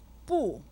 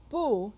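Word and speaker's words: 不: we have the word boo meaning no or not boo is said with a fourth town listen boo boo boo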